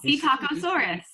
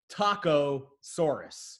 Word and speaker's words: Styracosaurus: Styracosaurus.